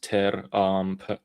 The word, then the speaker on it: Tehran: That's why people say Tehran, because it's pronounced Tehran. Yeah, it's Persianized.